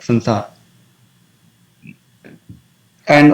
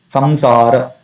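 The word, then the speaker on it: संसार: So, it has to be pronounced as it is given here. Samsara, not Sansara.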